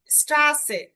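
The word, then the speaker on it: Straße: এই যে এসে, স্ট্রাসে, স্ট্রাসে, ডবল এস এর উচ্চারণটা হবে, অর্থাৎ এস এর মতো উচ্চারণ হবে, এস এর উচ্চারণটা হবে ডবল এস এর মতো।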